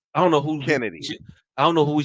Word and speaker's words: Chennedy Carter: Yeah, it definitely is spelled Chennedy, but they say it's Kennedy, so she saying name Kennedy, her name Kennedy.